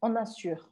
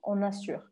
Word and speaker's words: on assure: Então, vou marcar aqui para vocês que a pronúncia poderia ser algo como ona. E eu vou parar o som no R, on assure, on assure.